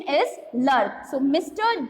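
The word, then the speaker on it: de Klerk: Mister डी लर्क, सी KLERK, its correct pronunciation is not clerk and all, its correct pronunciation is Lurk.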